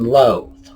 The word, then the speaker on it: loathe: Loath and loathe. This is interesting because these words are pronounced identically.